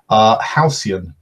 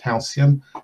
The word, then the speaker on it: halcyon: Halcyon. That is pronounced halcyon.